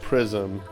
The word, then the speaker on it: PRXSM: That was, I think it's pronounced Prism, PRXSM, with a track called Can You Tell Me?